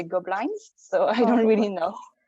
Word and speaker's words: Gobelins: pronounce it gopla i in french we say goblin in english we're trying to say goblins so i don't really